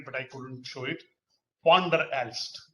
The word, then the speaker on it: Van der Aalst: Van der Aalst. V is pronounced as Fa.